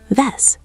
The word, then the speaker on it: wes: Remember, the W sounds like a V. Ves."